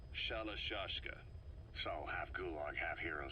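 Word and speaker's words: Shalashaska: known about that because somewhere along the line shashka got stuck on the end of sharak aska the gorillas were using the name amongst themselves by the time I got to hearing about it pronunciation had wound up as Shala shashka so half gulg half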